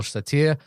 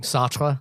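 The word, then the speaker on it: Sartre: Um, and uh I'm not that well verssed on Jean Paul Satir um Satra, sorry.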